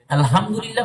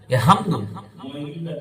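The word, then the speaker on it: الحمد لله: কারণ আপনার গুনাহ হবে আপনি গলার ভিতর থেকে হা আনবেন আল হা আলহামদুলিল্লাহি রাব্বিল আলামিন আলামিন পড়বেন না আলামিন মানে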